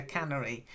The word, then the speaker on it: canary: like fish Etc tuna Canary uh but Canary is a bird that sings quite sweetly yeah little bird right yes a little yellow bird so try it Canary Canary very good and